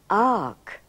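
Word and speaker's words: fhàg: When fark is aspirated, it becomes arc. In other words, the F is silent. Fark becomes arc.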